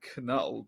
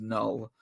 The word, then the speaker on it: Knull: I sometimes call him Knull, but I think it is just Null.